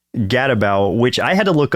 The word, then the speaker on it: Gadabout: And yeah, it is pronounced gatabout, which I had to look up what that even meant.